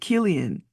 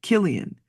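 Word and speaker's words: Cillian: from 2013 to 22 and uh oh you pronounce it Killian Murphy Killian okay Killian anyway Killian uh but he's an interesting looking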